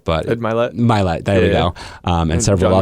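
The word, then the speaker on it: Mylett: And excuse me, I said his name wrong. But Ed Millett. Millett, there we go.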